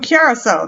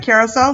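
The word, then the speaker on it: Curaçao: That's how you say it, right? Curacao, sister island of Grenada. Yeah, that's right. Some people probably be like, how do you pronounce that? Curacao. I believe that's how it is.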